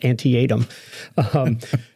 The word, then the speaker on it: Antietam: My mom told me it was Antietam.